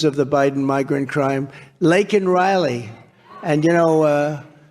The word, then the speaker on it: Laken Riley: Laken Riley. And, Biden was unable to pronounce her name, called her Lincoln Riley.